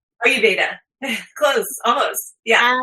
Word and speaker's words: Ayurveda: Do I pronounce it right? Ayurveda. Close. Almost. Yeah. Ayurveda.